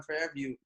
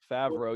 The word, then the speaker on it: Favreau: always known about like john fairview uh i think i said it wrong yeah favreau yeah he was in